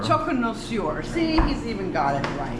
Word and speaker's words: Choconnoisseur: Choconnoisseur. Choconnoisseur.